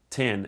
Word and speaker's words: X: By the way, officially it's not pronounced X, it's pronounced 10.